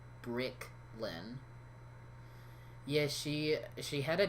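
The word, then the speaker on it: Briclyn: they probably are yeah yeah it's spelled b-r-i-c-l-y-n brick lynn yeah she she had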